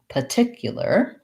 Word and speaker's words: particular: usually i tell people if you see an r in a written word in american english you say the r we never leave it